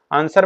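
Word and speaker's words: answer: हो जाएगा डी फ 22 नंबर क्वेश्चन व्हि इज a silent letter in the word आंसर आंसर में क्या डब्लू आपका साइलेंट होता है 23 नंबर क्वेश्चन ए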